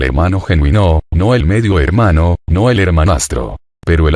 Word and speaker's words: hermano: formas fratello y soreya la H de hermano es adventicia y nunca se pronunció en la Edad Media